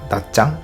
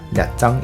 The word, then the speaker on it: Nha Trang: 현지 발음으로는 나짱, 냐짱 이렇게 부르더라고요.